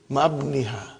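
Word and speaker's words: مع ابنها: But remember, Ibni has got hamzatu wasal. We cannot pronounce it. How will you say? Ma'abniha.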